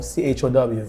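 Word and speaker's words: Ciao: C-I-A-O, C-H-O-W. C-I-H-O. No, C-I-A-O, like Chow.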